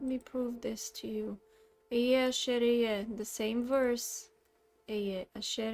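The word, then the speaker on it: אֶהְיֶה אֲשֶׁר אֶהְיֶה: Ehyeh asher ehyeh. Again. Ehyeh asher ehyeh. It's not Aya Asher Aya. It's not Ahaya Asher Ahaya. It's not any of that nonsense. This is how you pronounce it.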